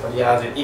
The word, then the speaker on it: トリアージX: はい、じゃあ続いてトリアージイクス。イクス。トリアージイクス。